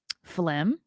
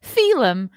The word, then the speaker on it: Phelim: Carano uncanceled herself by teaming up with counterculture voices like Ben Shapiro and Phlegm. No, that's not how you pronounce it. Phelim McAleer for projects including Terror on the Prairie and My Son Hunter.